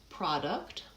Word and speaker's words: product: For the first word, product, the syllable stress is on the first syllable, and we use the pure vowel ah, product.